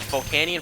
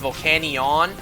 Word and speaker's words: Volcanion: You know, when this Pokemon was brand new, and we didn't even know this thing's official pronunciation yet, I always thought it would be pronounced Volcanion. Volcanion?